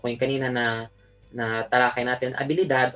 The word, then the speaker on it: habilidad: Skill set, habilidad. So, kung kanina na talakay natin, habilidad. O pwede din, kung gusto yung mas mahaba, conjunto de habilidades. So, di natin pinapronounce yung H dahil muted siya in Spanish.